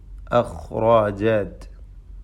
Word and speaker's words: أخرجت: അതിൽ അഖ്റാജത്ത്, ഖാ റാ എന്നീ ഹർഫുകൾക്ക് തഫ്ഖീം വരുന്നു. മറ്റക്ഷരങ്ങൾക്കൊക്കെയും തർക്കീഖാകുന്നു.